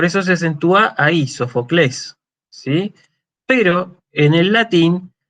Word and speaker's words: Sófocles: Y esa es la razón por la cual nosotros pronunciamos Sófocles en vez de decir Sófocles, como dicen los griegos, ¿sí? Y hoy en día el griego moderno sería Sofoclis.